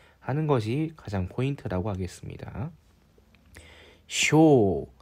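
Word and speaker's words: 生: 것이 가장 포인트라고 하겠습니다 쇼 세이 세이는 새라고 자동으로 읽기도 하죠 쇼 혹은 세라고 읽고 태어나다 살다 그런 뜻인데이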